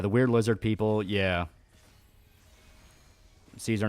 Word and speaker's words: Caesar: weird lizard people yeah Caesar not kaisar in New Vegas they refer to Caesar as kaisar it's an actual pronunciation they use but um yeah so